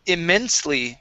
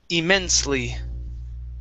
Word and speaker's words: immensely: to uh the word immensely okay this e right here is not pronounced so it's immensely immensely okay one more